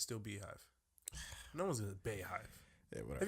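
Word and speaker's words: Beyhive: Beehive, nigga. Bayhive. It's spelled B-E-Y hive. Still the Beehive. Okay. All right. Is it not the Bay? Like, is that? No, that's how you say Bay, right? No, it's Beehive.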